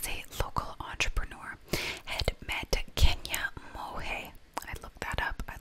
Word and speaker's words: Kenia Monge: Travis, whom was a local entrepreneur, had met Kenia Monge.